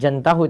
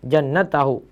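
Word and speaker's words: جَنَّتَهُ: Bukan jantahu tadi saya baca, jannatahu.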